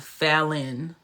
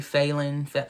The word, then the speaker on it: Fallon: My name is Fallon, but it's pronounced Fallon. People say Phelan.